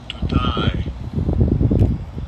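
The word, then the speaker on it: דּוּדַי: Dutai. So when the Hebrew is pronounced duty and it says, let's see if we can get a definition here.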